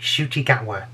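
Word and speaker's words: Ncuti Gatwa: doctor is shooti gagwa that's how it's pronounced i've had that's confirmed on twitter this is how it's pronounced i'm not saying it wrong it's shootygatwa i think uh it's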